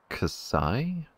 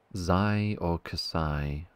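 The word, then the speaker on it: xi: are they different pronunciations it's pronounced kasai kasai c letter greek alphabet zai okay let me just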